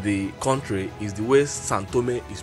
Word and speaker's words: São Tomé: video I pronounced it the way the locals pronounce it which is santome let us go out and visit a few